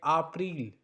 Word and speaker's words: April: So April is pronounced like ah-pril.